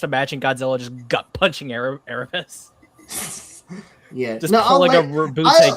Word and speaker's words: Erebus: Okay, there you go, Erebus.